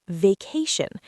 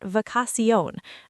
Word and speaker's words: vacation: Vacation, it's vacation, not vacassion. Stress on the second syllable.